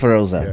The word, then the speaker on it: Feroz: Okay, yours is Feroza. Yeah, he's Feroz. He's Feroz. Yeah. So Feroz is Feroza is female. Feroz is male.